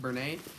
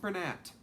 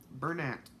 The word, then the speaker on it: Bernat: I thought it was French and it was pronounced burn aid I watched a video from somebody who is actually like a person in the company she was doing a pom-pom tutorial and it's pronounced burn ant Burnett so oops I will make sure that I